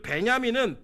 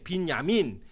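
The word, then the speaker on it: בִּנְיָמִין: 그리고 베냐민은 비냐민이에요. 빈야민 이 뜻인데 이것은 오른손의 아들이라는 뜻입니다.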